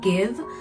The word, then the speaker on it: GXVE: this brand gx wii that is pronounced as give so this is um